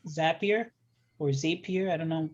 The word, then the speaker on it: Zapier: information to um a third party tool like zapier or zapier i don't know people pronounce it differently zapier that's how i call it and when they